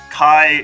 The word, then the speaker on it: Kai: Kai is rhymes with guy.